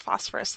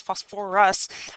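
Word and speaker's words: phosphorous: So we're starting with phosphorus acid, which I know is kind of funny because it's not pronounced phosphorus like the element, but it's phosphorus acid, and it loses its first hydrogen ion, and we wind up with H2PO3 minus.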